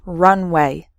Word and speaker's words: runway: So the first word has 3 syllables, run away, and the second word has just 2 syllables, runway. Completely different meanings, okay?